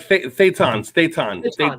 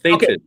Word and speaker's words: Thetan: Bob, did they pronounce it Thetan or Thetan? Yeah, like Thetan. Okay. Like Satan. Thetan.